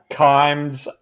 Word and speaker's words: Kimes: under it said yeah KES rhymes with climes oh what a cut